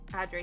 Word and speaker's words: Adri: Adri, similar to how you pronounce Amy.